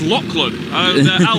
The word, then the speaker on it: Lachlan: Lachlan. I keep saying Lachlan, don't I? That's who we had a gentleman come up saying it's Lachlan.